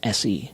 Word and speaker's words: Se: Inside the Macedonian cosmic egg geoglyph sits a symbol representing the all-seeing, all-sustaining cosmic god called Se, just S-E. It's pronounced Se.